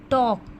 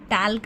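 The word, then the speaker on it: talk: टॉक टाक नहीं बोलते। टॉक बोलते हैं।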